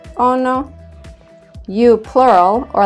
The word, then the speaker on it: ono: It is ono, sounds like ono.